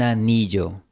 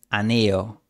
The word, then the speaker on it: anillo: El Rey pronuncia la doble L de anillo con fricción. Quizás tú pronunciarías aneo, con un sonido muy suave. Pero si haces esto sonarás más extranjero. Pronuncia con un poco de fricción.